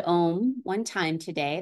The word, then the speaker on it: Om: So we'll chant the sound Om one time today. There's always four syllables. Ah, ooh, mm. Fourth syllable is the silence that comes after.